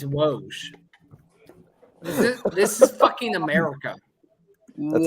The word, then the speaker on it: Woj: The correct pronunciation is Woj. It's Woj.